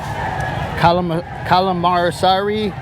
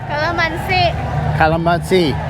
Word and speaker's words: calamansi: Alright, so it's 1 peso per calamarsari. Calamansi.